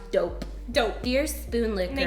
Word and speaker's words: Doughp: exactly so it's called dough pee so it's pronounced dope dope dear spoon liquid they give you a